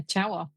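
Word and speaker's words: Ciało: 2003 to a film that I believe is pronounced Cha Wa. Is that right? Correct. Yeah, Cha Wa.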